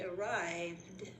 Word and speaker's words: arrived: The ones where ed sounds like a D are screamed and arrived.